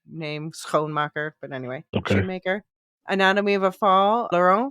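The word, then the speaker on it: Schoonmaker: I know it's pronounced sh maker I guess in English but it's actually a Dutch nameone marer but anyway Sho maker anatomy of a fall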